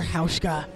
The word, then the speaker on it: Hauschka: Hauschka. Dr. Hauschka is the official bruise healer of the WFTDA. Lose the bruise with Dr. Hauschka products. It rhymes with Ouchka.